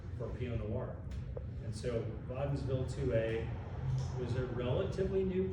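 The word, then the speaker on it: Wädenswil: But back to the first 5 acres, the clones that I chose in '97 were Waddensville 2A, would be pronounced Waddensville.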